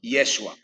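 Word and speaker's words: ישוע: hay Exacto miren Entonces el nombre como se pronuncia hoy hoy en día es yeshua si es que se pronuncia en hebreo que viene de la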